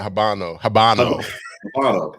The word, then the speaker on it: Habano: I think the Habano. Not Habanero. He threw me off with the Habanero.